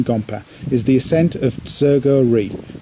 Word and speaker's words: Tsergo Ri: is the ascent of serger real pronounced chair Gauri by the local people the ascent in route